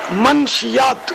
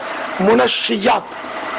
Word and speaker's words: منشیات: وہ حاضری یوں دینا ہوا کہ منشیات کہا جا رہا تھا. لفظ منشیات ہو سکتا ہے غلط العوام ہو, اصل تلفظ ہے منشیات. یہ منشی کی جمع ہے, نشہ دینے والی چیزیں.